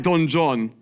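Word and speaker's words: Don Juan: John Lord byon wrote Don ju but because of poetic form he made us pronounce it like Don John there's too many poets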